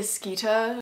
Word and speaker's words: Skeeter: Apparently, Icelandic moviegoers cracked up the first time that Rita Skeeter said her name, because the pronunciation of her last name, Skeeter, which with the British accent is like Rita Skeeta.